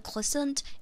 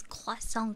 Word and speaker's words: croissant: Not croissant, it's croissant, guys. The pronunciation is like this.